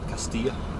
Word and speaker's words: Castilla: Castilla, probably closer to the Spanish pronunciation.